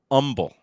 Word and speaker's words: Humble: town outside of Houston it's spelled humble but it's pronounced humble get rid of the h like the people that